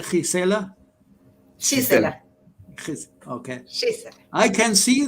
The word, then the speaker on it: Gisela: So, how do you pronounce? You say Gisela? Gisela.